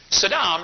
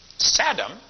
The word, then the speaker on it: Saddam: reason for that okay Saddam is the Arabic word that means Prince Sadam spelled the same way pronounced differently means hores rear end George Bush called him Sadam who saying anyway Saddam thinks he